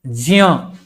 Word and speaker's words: ज्ञ: उसी तरह ज्ञ हम हम लोग ज्ञ ज्ञ भी बोल देते हैं। लेकिन ये है ज। एक्चुअल में अगर ज्ञ बोलेंगे तो ग य संयुक्त सुनाई पड़ेगा।